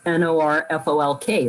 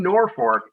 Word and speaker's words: Norfolk: And if you're from Norfolk, you say Norfolk, even though it's spelled Norfolk. And the reason being is the town was settled by German Americans back in the 1800s. And at the time, they named the town based on the fact that it was on the North Fork of the Elkhorn River.